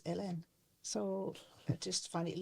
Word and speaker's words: Hélène: I said, well, because this is how you pronounce my name, is LN.